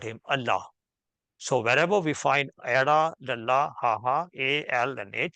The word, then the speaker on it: Allah: be pronounced as Allah because it's a borrowed word and that is how it's pronounced in uh that language so somebody in English